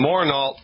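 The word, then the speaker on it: Morneault: The last name is spelled M-O-R-N, like Nancy, E-A-U-L-T. Daniel and Missoon Morneau, you are the lucky winners.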